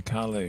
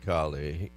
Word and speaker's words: Calais: I noticed the way you covered for our local Gavin Calais. You said Calais with 1L. Well, so that's how it's spelled.